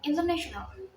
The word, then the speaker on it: international: example is the word International the word stress is placed on the third Sy it's on the N so the correct word way to read it is international the stress syel can